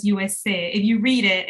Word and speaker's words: Youwes: And at some point it says USA. If you read it, it's spelled Youwes. So it's a Creole spelling, but of course, when we say it out loud, it's the US.